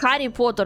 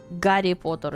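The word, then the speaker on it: Гарри Поттер: I mean, if you say Harry Potter, nobody's going to make fun of you. But like Gary Potter is like how you're supposed to say it or like gamburger.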